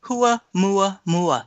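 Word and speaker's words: ʻOumuamua: the name in Hawaiian hua MOA MOA isn't that beautiful and it means a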